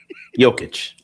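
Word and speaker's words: Jokić: When pronouncing Nikola Jokic, you gotta be careful. Negla. That's not what I said. It's a K. Nikola. Nigla. It's not. Nope. What's what? Nope. Nope. Jokic.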